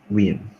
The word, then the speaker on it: Wien: O sea, así se escribe, pero me parece que se pronuncia Wien.